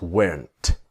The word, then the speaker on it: weren't: Were not is weren't but of course the t is silent.